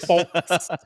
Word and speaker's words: folks: It was I don't know why I said the L. I've never said the L in that word before, and it's folks.